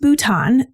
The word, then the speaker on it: Bhutan: It's pronounced Bhutan, and it's a country of South Asia and